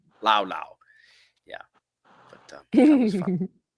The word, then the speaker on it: Laos: You don't pronounce the S. Actually, it's Lao. Yeah, we pronounce the S, but they don't. Lao.